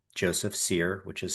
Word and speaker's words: Cyr: So for finding me, people can find me easily on Instagram, Facebook, and LinkedIn under my name, Joseph Seir, which is spelled CYR.